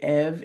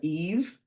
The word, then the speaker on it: Eve: For final E, if you run into an issue where they mispronounce it, so if they say Ev instead of Eve, that has a final E at the end, you're going to ask them if there's an E at the end.